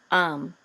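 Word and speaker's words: העם: a kamatz and the mem sofit together says ha'am, the people, and they shall judge the people. Okay, and et ha'am gets this trope mark right here, which is tipcha.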